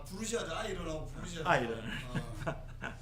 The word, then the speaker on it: 爱人: 그걸 이제 중국어 발음으로는 아이런, 아하.